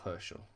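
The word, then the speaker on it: Herzl: Theodor Herschel, which is spelled Z-L.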